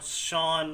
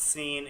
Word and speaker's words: Sean: just a slight curve my name is Sean not seen it's the IR spelling yeah ok boy who